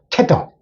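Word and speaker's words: tether: 그러면 하나 딱 자음이 두 개 있으면 이게 짧아지니까 테더, 개끈 같은 거 테더랍니다. 요건 테더라 읽고 요거는 이더라고 읽습니다.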